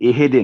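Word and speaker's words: اهدِ: साथ जोड़ेंगे हा को, तो हा पर जगह हिले नहीं, इहदी, इहदी, यानी इहदे ना हो, इहदी, और दी की आवाज़ भी लंबी नहीं होगी, 1 सेकंड और दी 1 सेकंड, इहदी।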